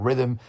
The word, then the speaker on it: Rithmm: Rhythm is spelled RITHMM. That's RITHMM.